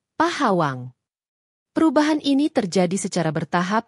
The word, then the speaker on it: Pahawang: Bunyi K pada akhir kata Pok perlahan-lahan melunak dan melebur dengan bunyi H pada awal kata Hawang. Dari Pok Hawang, pengucapannya bergeser menjadi Pohawang atau Pahawang.